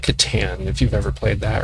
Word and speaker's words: Catan: But it's kind of like Catan, if you've ever played that, or Catan, however you pronounce it. Pecan, Catan, Catan. As long as it's not Caton, you replace this, anyhow.